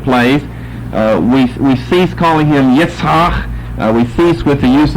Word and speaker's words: Yitzhak: these things took place, we cease calling him Yitzhak.